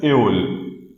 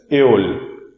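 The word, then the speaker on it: Öl: Okay, this word is pronounced as Eol. This word is pronounced as Eol.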